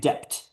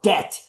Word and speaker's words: debt: Like, so that guy mispronouncing a word, just kept saying depped. You know, he had a Mexican background. Depth. Depth. Depth. It's like, bro, it's debt. The B is silent in English.